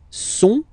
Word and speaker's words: sont: Ils sont, final T not pronounced, ils sont, elles sont, okay?